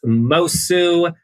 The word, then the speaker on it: Moço: You can find me on Instagram at Miss Moço, MISSMOCO. The C is silent. It's Portuguese.